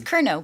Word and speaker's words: Curnow: so but it's yeah you don't pronounce the W so just FYI um